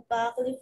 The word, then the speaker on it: parle: Et parle, recuerda no prononcer la última letra.